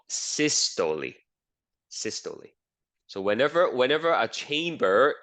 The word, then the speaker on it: systole: So that's how you pronounce it. Systole and diastole.